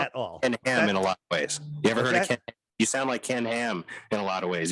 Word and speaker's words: Ham: Ken Ham, like a pig, like You sure his H-A-M.